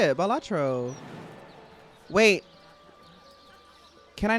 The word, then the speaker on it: Balatro: Balatro, that's how you say it. Balatro.